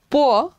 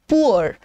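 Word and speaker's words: poor: past tense so again प एंड पो now India में वी do tend to pronounce this as पुअर how ever a in Kings English it is pronounced as पो एंड यह भी पो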